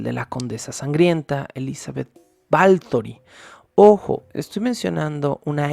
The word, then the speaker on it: Báthory: como Lore en español según él la pronunciación correcta de este nombre de los balcanes es balthor con una L A pesar de que se escribe con solo th B a t h o r i y batori sería la pronunciación más tradicional y el 90 por